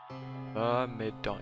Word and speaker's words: Myrmidon: Myrmidon.